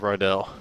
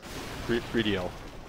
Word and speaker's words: Rydell: And that's all we're going to get out of Rydell. Or, Ridiel. I apparently have said his name wrong forever.